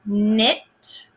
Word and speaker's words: knit: Then we have the n sound made with KN, and that's the word knit.